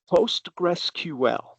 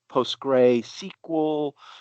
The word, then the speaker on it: PostgreSQL: Postgressql is the full pronunciation.